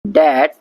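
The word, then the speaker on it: debt: डेट that can नॉट be paid of. डेट मतलब कर्जा और इसमें बी साइलेंट है।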